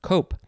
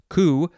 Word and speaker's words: coup: that's how it's pronounced cope it is spelled c-o-u-p you might think it is pronounced ku but no that is our second